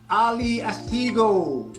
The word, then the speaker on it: Ali Ashtigo: Ali Ashtigo. Did I pronounce that right? Ashtigo, you almost had it. Ali Ashtigo.